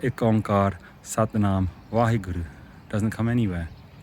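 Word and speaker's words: ਓਅੰਕਾਰ: It's not pronounced Omkar, because Bhai Gurdas Ji tells us how to pronounce it. He says that Ik is Ekankara, and Om, the Ong, is Onkara. So Onkar comes in Gurbani.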